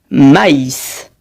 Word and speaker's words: maïs: litres et ma s se prononcent maïs on prononce le i séparément on dit donc maïs cédille on place la